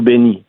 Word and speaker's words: Bennis: Oui, Bennis ou Benny, dépendamment de la journée.